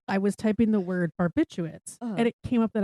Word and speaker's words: barbiturates: Yeah, there's an extra R in there. I thought it was barbiturates. Barbiturates. But it's barbiturates.